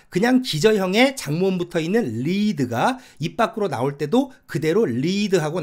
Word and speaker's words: lead: 무슨 말이냐면 예를 들어서 lead 리를 사전에서 찾으면 발음기호에 리드 이렇게 점 두 개 콜론이 그러죠 장모음 표시가 되어 있습니다 이게 무슨 말이냐 면은